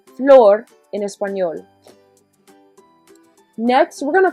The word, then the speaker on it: flor: we've got floor and if you want to think of it as floor like an actual floor that would actually help in pronunciation which stands for a